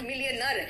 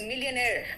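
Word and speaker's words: millionaire: मिलियनेयर है, इट्स नॉट मिलियनर, इट इज मिलियनेयर। मिलियनर नहीं है, इट्स मिलियनेयर।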